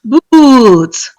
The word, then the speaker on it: boots: Books, boots. Books, boots. Again, that first one, is a short vowel sound, whereas ooh is a long vowel sound.